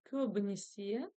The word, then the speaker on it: көбінесе: Ударение на последний слог.